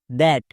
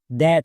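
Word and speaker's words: that: টি এইচ এটি দ্যাট। নিয়ম অনুযায়ী এর উচ্চারণ ফ্যাট হওয়ার কথা। বাট যেহেতু ব্যতিকরণ তাই এর উচ্চারণ দ্যাট হচ্ছে মানে টি এইচ এর জন্য দো হয়েছে।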